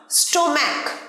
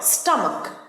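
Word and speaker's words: stomach: স্টোম্যাক ভুল উচ্চারণ, স্টোম্যাক নয়, স্টামাক।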